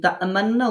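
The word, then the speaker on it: تأمنّا: যেখানে মান্না লেখা আছে দেখেন, এই তামান্না উচ্চারণ করতে যখন করব, সেই ক্ষেত্রে নুনের উপর তাসদিদের স্থানে গুণনা করার সময় ঠোঁট পেশ উচ্চারণের মতো গোল আকৃতি করতে হবে, কিন্তু পেশ উচ্চারণ হবে না। এভাবে পড়ার নাম হচ্ছে ইসমাম।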